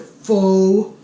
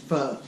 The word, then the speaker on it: pho: people call pronounce it fo for a ton of different ways it's spelled pho so but it's pronounced foe alright so what we're